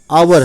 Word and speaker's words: hour: बहुत से स्टूडेंट हैं जो HOUR हावर पढ़ते हैं। क्यों, क्योंकि H है, H से हा होता है, हावर, बट ये हावर नहीं है, आवर है।